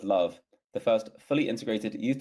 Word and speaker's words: LOVB: of League One Volleyball, otherwise pronounced as love, the first fully integrated youth to pro volleyball league in the United States.